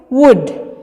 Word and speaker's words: would: blablabla perhatikan kata wujudnya Bagaimana cara pengucapannya itu wood bukan would yah elne tuh enggak terlalu terdengar jadi langsung gede kayak fujg like to would you like to come